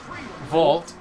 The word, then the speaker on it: vault: when you vote when you vault over no volt it's pronounced vol vault when you vault over it or whatever [